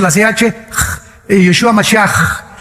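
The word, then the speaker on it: משיח: Se escribe Mashiach, Jesús el Mesías en el hebreo, pero se pronuncia la CH, Yeshua Mashiach, y siempre pronuncian dándole mucho énfasis a la palabra J en el hebreo.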